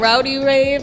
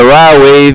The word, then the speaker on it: Rod Wave: I called him Rowdy Wave. I thought I was saying his name wrong. Yeah, Rod Wave, because I listen, you